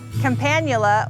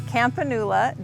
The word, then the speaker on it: Campanula: Companula or Campanula, depending on how you say it, is one of my favorite flowers.